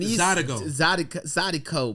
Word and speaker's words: Zydeco: I mean, Zydeco, but it's you saying a C like it's a G, but it's a C. I said Zydeco.